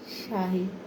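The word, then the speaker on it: شاي: খাচ্ছি কি খাচ্ছি শাহী চার আরবি উচ্চারণ হচ্ছে শাহী তো আমার এই ভিডিওটা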